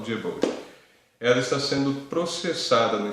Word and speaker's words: Diebold: É a Diebold ou Diebold, depende da pronúncia. Bom, estou no Brasil, eu falo Diebold.